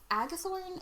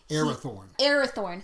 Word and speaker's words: Arathorn: know, but he has become Aragorn, son of Agathorn, is that right? Yep. Yeah, son of Agathorn, like the rightful king, Arathorn, sorry.